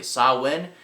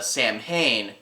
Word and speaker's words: Samhain: never confirmed this probably uh how do you pronounce it correctly sawwin uh but most people mispronounce it as uh samhain was where he gets his name but uh